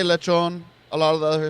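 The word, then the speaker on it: lechón: Cubans say lechon. A lot of the other Hispanics will say peril. Lechon say, you say lechon.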